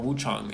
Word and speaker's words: Wu Chang: your Hunter there is Wu Chang and wuchen or wuchong if you want to say it with the technically the correct pronunciation um the biggest issue